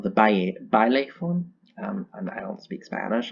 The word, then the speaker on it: baile: My favorite Oricorio is actually the fire form, I believe it's called the baile form. I don't speak Spanish, I'm sorry. Baile, there we go. They pronounce the L and the A.